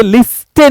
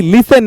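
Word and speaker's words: listen: बोलते हैं लिसन सुनना यू नो ये लिस्टन नहीं लिसन है अगर आप बोलेंगे लिसन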